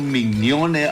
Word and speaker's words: Mignone: gobierno y pueblo argentino, el premio Mignone, Emilio Mignone, así se pronuncia.